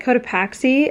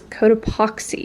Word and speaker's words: Cotopaxi: I've always pronounced it Cotopaxi, and then my friend worked with them and she was corrected that it is Cotopaxi.